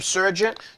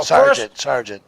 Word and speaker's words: Sergeant: Is this pronounced right? Jim Surgeon? Yeah. Okay. Jim Surgeon wants to know. Sergeant. Sergeant. Oh, it is Sergeant.